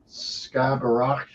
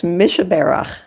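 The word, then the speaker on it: Mi Shebeirach: And I don't know if I can pronounce this properly, but it's Skabarach. Yeah, it's Mishaberach.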